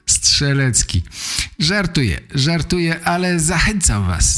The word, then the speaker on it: Strzelecki: Australijczycy mają trochę problem z tym prostym nazwiskiem Strzelecki. Wymawiają stres, leki, coś w tym rodzaju. Zachęcam, zachęcam do słuchania podcastu po polsku. Nauczycie się wymawiać doskonale to nazwisko. Strzelecki.